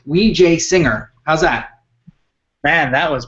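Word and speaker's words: Wijesinghe: uh uh taking that his name apart it's wej singer how's that man that was perfect on the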